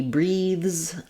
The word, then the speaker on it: breathes: an error of devoicing so in a word like breathe for example he breathes um he breathes deeply this should be the Z and the Z sound voiced and sometimes people will